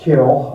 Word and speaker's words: kiln: Which incidentally is pronounced kill, I learned here in the south as it is in England.